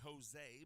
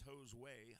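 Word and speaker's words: Josué: runner here's josue herrera you're always tempted to say jose but it's jo's way herrera is the correct pronunciation for the young man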